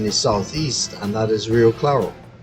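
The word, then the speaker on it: Rio Claro: Southeast and that is real claro right so if you had to pronounce it in Spanish again that R is going to you have to roll it on and it should be brioclado yeah I thought anybody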